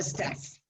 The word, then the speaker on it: staff: Staff. Staff. Different from stuff.